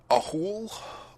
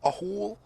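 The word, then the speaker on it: Ahool: anyway well this is a fun one to pronounce a hole a hole i think so a-h-o-o-l you literally said at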